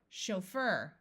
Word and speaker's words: chauffeur: means extreme happiness Manu this CH will use the French sh sound chauffeur a chauffeur is a driver